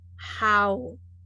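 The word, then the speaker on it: haus: And then the word in Hmong, you put the vowel and the tone together, how, owl, and then the S, the tone, okay, owl, how, mean drinks, okay.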